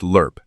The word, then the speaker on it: LRRP: Pronounced lurp universally in the field because abbreviations that require spelling out belong to the officers writing the orders and not to the men executing them.